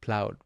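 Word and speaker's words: Plaud: I recently went to Virgin and I picked up this device called cloud. Very easy. rhymes with very much rhymes with cloud.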